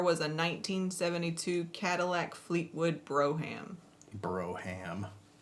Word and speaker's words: Brougham: Is that how you say it? Brougham. But everybody says Brougham because it's funnier. I mean, I'm from the South. Broham is like a normal word. It's true. You just put the extra syllable in there, and it does sound right around here, huh?